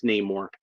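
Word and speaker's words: Namor: not going to say we're not saying that it's neyar it's been neyar in the comics for like you know 70 years practically now so I'm I'm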